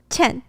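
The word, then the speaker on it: 前: Qian.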